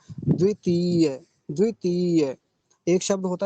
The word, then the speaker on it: द्वितीय: क्या होता है द्वितीय द्वितीय एक शब्द होता है इसके आगे का तृतीय तृतीय ऐसे बोलेंगे तो हमें इसका उच्चारण सही पता होना चाहिए द्वितीय अब अगला शब्द देखिए